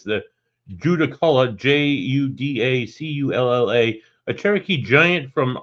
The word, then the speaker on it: Judaculla: I mean, there's an actual true Cherokee pronunciation, but the accepted term is now Judaculla.